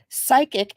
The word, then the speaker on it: CYKIQ: Oh, so psychic is how you pronounce the CYKIQ name.